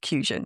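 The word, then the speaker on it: Qusion: So Q U S I O N is fusion. Yeah, I always say that to think of it like a quick or quality fusion.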